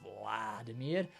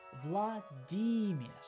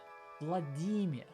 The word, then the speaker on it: Vladimir: on the first syllable Vladimir or in the last syllable Vladimir both are wrong in fact the stress is on the middle syllable it's Vladimir Vladimir like this guy Vladimir